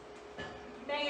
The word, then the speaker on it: manga: Manga, it's pronounced manga.